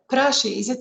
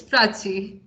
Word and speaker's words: Prachi: Prashi, am I pronouncing it properly? Prashi. Or have I completely, destroyed your first name? Sorry, you're on mute. It's Prachi. Prachi, okay.